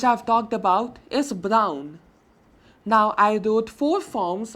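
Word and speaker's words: brun: will be pronounced as brown like n half sound not complete and is almost silent but some indication is there that this end at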